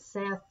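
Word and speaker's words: Sethe: is his former slave named Seth she has or Seth uh my professor pronounced it Seth that Purdue pronounced Etta um she is cornered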